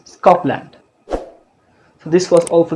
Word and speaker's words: Scotland: So you can see if the sounds p, t, k comes after s, they are not aspirated. Those are aspirated sounds in English, but if they comes after s, they are not aspirated. This is a very important rule. If you see this, don't pronounce Scotland, pronounce Scotland.